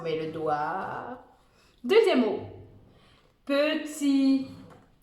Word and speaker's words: petit: Deuxième mot, petit, petit. N'oublie pas de mettre un T muet à la fin. Parce que, pourquoi on met un T à la fin du mot petit?